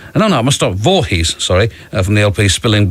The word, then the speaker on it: Voorhees: mispronouncing on the radio, and they do just pronounce it Vorhees, uh which is how it's spelled, but that's rather disappointing.